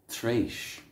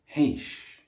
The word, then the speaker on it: tréis: So for past or after, we'll use tréis. Tréis. Tréis. This is pronounced very similarly in Munster and Ulster, whereas in Connacht it's pronounced héis.